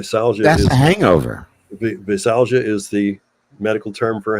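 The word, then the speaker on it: veisalgia: is it v-e or v-a v-e yeah it's pronounced visalja men and women can go through this right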